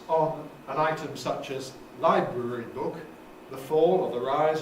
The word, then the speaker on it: library book: an item such as library book, the fall or the rise or whatever has to start on library, because this is a compound, and it therefore has early stress on the first element.